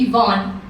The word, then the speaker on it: Yvonne: to how to spell my name and to pronounce it. So yes, it's Yvonne.